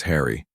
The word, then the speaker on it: Henry: Remember medieval Englishmen pronounced Henry as Harry.